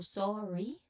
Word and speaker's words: sorry: Pay attention to the stress of the first syllable of sorry. So sorry.